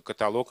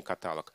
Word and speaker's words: каталог: коем случае не жалюзи только каталог и никакой не каталог вот такие слова в